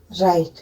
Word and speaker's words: write: जैसे मैंने बोला WRITE, इसको आप क्या बोलेंगे, राइट, तो इसमें डब्लू साइलेंट होता है।